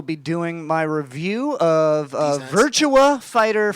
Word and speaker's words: Virtua Fighter: where i will be doing my review of virtua fighter 5. i said it wrong on uh on the internet today i'm doing this today uh to review a game virtua fighter uh and virtual fighter virtue uh now i know you said like